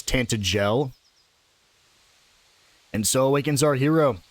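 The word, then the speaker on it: Tantegel: Glad she pronounced that cuz I was definitely going to call it Tantagle, but it's Tantel.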